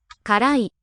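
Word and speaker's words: 辛い: メニュー、辛い、辛い。辛い。 So note how the accent is up in the middle.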